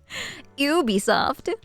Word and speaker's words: Ubisoft: say Taco makes sense you say it like Ubie Ubisoft CU they're French right yeah makes sense what's